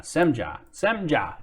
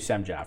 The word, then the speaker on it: Semja: It's my Twitch visitor says it's Sem then Ja to pronounce my name. Haha, Semja, got it. All right, thank you, Semja, for clearing that up.